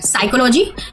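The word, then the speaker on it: psychology: अब एक एग्जांपल देख लेते हैं कि जैसे कि जो वर्ड है साइकोलॉजी उसमें क्या पी साइलेंट है।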